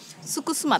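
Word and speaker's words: suksma: すと面白いなスクスマって書いて 3 s u k sma 日付進む打てよムーンね a の発音がねバリバリではあーじゃなくてうーんってなるわけですねいうなるぐー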